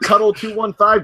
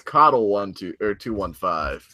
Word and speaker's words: Coddle: That's not Cuddle215. That's Coddle215.